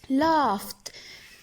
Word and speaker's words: laughed: of I think and act up I'd often laughed G would actually pronounced as f laughs wisdom of the world